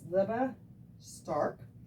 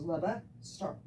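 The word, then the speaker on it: Lebe Stark: His name is Leba Stark. It's spelled it's spelled L-E-B-E. His last name is S-T-A-R-K, just like it sounds. So it's Leba Stark.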